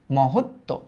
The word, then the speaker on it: মহত্ব: ম বলছি আগে, তারপর আমরা বলছি হত, মহৎ, তারপর আমরা বলছি তো, মহত্ব।